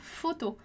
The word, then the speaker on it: photos: Então, photo é uma palavra que a gente também não vai pronunciar o S, a gente vai dizer lá photo, que é fotos, né?